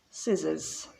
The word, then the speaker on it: scissors: the film is interesting scissors more silent letters silent c scissors receipt so we don't pronounce